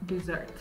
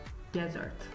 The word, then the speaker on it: dessert: or stomach yeah and my last word was dessert not pronounced as desert good nice okay and the last word on